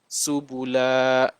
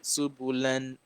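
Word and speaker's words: سبلا: Subula. So you want to stop on this, you don't say subulan.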